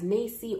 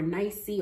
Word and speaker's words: NAEYC: Children, or what is known as NAEYC or NAEYC or N-A-E-Y-C. Depending on your location, you might pronounce that acronym different or use it differently or say the whole thing.